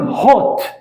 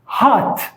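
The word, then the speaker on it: hot: كولد وتعني بارد عكسها هذه لها نطقين بالبريطاني الاو ينطق زي الضمه تقول هوت هوت بالامريكي الاو الفتحه بالعربي هات هات وتعني حار كولد هوت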